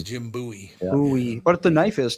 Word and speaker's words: Bowie: they sure do yep always right I've always pronounced it Bowie no it's Jim buoy buoy but the knife is too buoy knife